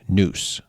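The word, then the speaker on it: nous: adjective based off of the Greek word noose for those of you playing at home that is spelled n o u s which roughly translates as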